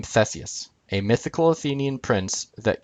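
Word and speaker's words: Θησεύς: And Theseus, compared to Isos, is actually a name. Okay, no. The words Theseus and Aspis, or in Greek it'd be pronounced Thesefs and Aspis, an asp, Aspis being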